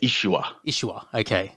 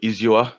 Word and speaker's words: ISUA: it is yeah well we say ishua ishua a lot of people say sort of izua to me which makes